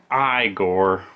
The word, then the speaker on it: Igor: also do a good igor impersonation no it's pronounced i gore so i read a